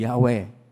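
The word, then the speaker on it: Yahweh: ng Diyos na si yahwe ang yahwe ay apat na po na titik yod he w he wala pong bowels doon kon po lagi at ang Hindi po yan ma- pronounce ng mga Hebreo dahil k banal na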